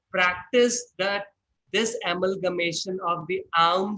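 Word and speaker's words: ॐ: So basically, we call it om, but the actual pronunciation is not om or om, it is aum.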